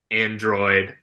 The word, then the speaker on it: ArchAndroid: The H isn't doing much work in the pronunciation, but thinking about it, like, oh, Archangel, Android, okay, we've got a little portmanteau here combining the words.